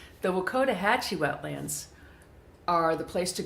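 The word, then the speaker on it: Wakodahatchee: Hatchi yeah Wetlands I'm finally being able to pronounce it correctly the Wakota Hachi wetlands are the place to go if you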